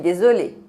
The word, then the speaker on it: désolé: Se você vê E acento agudo, se pronuncia E fechado em francês.